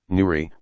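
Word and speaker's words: 누리: Nuri, Korean pronunciation, Nuri, meaning world in native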